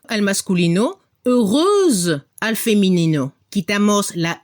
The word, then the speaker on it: heureuse: Para el masculino no se pronuncia la X, heureux, y al femenino se pronuncia como una Z al final, heureuse.